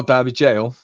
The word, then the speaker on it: Derby Gaol: I always pronounce this wrong. Derby Gaol. Oh, Derby Jail. Derby Jail.